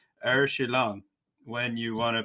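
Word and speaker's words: Aori Qileng: you read this in straight American terms, it's Aori Kilang, but it's Er Shilang when you want to pronounce it correctly. So Shilang is going to and it's all combined into one name. So it's Er Shilang.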